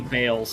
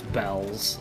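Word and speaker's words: Baelz: But the official pronunciation is bells.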